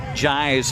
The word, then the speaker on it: Jai: We learned in the between innings the proper pronunciation for Jai's first name, Jai.